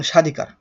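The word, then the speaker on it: স্বাধিকার: উচ্চারণ হয় না যেমন সাধিকার দেখো তো এখানে দন্তস এটা প্রথম অক্ষর সরি প্রথম বর্ণ প্রথম বর্ণের সাথে যেহেতু ব যুক্ত রয়েছে তাহলে সেই বর্ণের বটা উচ্চারণ হবে না ঠিক আছে এই নিয়মটা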